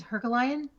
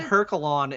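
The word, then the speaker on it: Heraklion: I think it's Herculean. Herculean? Yeah. I always said Herculon, and that was totally wrong too.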